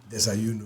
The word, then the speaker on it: Desayuno: Was it Desayuno? Desayuno, yeah.